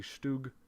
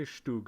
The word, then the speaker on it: StuG: 5 tank destroyer the stoog the stoog 4 i would say stug and i think that's technically the wrong pronunciation the stoog 4 there